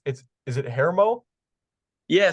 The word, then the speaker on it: Hermo: It's is it Hermo? Yeah. So it's actually Hermo, but it's probably Hermo. actually like that's actually probably how you're supposed to pronounce it, but for whatever reason it's Hermo. It's the Hermo.